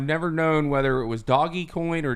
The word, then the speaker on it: Dogecoin: There's a crypto and I've never known whether it was Doggy Coin or Dogecoin because it's spelled DOGE, and the symbol of it is